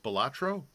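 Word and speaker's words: Spilotro: italian broken english so spellotro was supposed to be pronounced spelatro seems like if he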